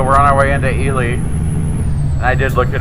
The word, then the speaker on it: Ely: Even though, if that's a person's name, you say Eli. But apparently the town is called Ely, Nevada. So the thing about places is the people that live there get to tell you how to pronounce it.